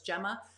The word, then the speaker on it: Gemma: Do we say Gemma or do you pronounce it? You don't pronounce it Hema because you're French. You're French Canadian, right? So it's Gemma.